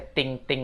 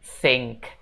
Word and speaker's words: think: Nah, untuk pengucapannya, think itu jangan dibaca ting-ting lagi guys. Tapi bacanya think, think. Jadi lidahnya seolah-olah digigit gitu ya guys.